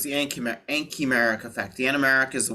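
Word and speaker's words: anchimeric: So just make sure that we're pronouncing it right. So it's the ankymeric effect.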